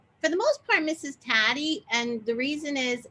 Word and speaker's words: Taddei: the most part mrs taddy and the reason is it's um it rhymes with daddy and most of my